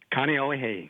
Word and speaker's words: Kaneohe: Kaneohe.